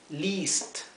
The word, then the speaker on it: least: e como Ven aquí y la e a como Ven aquí en list se pronuncia como una I una I más un poco más extendida un poco más larga need least sí I need at